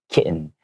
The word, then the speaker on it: kitten: little bit more difficult to have those hard T sounds so we we might change it to a silent T kitten so these kittens I